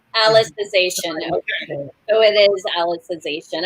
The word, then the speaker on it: Alicization: at the beginning but it's like alice like the character alice in the show so alicization alicization okay oh it is